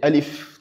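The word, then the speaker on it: ألف: Donc on est censé la prononcer alif tout simplement.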